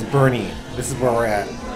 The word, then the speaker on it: Boerne: in Bernie Bernie Texas it's spelled b o e r n e so if you guys say born you're wrong it's Bernie this is where we're